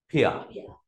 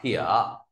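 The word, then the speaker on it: 撇: Tiếp theo ta viết nét phẩy nào, nét phẩy âm mình viết là phiệt, đọc là thỉa. À, lớp cùng đọc thỉa.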